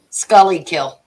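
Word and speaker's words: Schuylkill: Scully kill.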